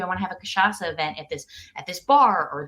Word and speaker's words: cachaça: don't know about, and it has a tricky name, cachaça, because it's spelled like cachaca.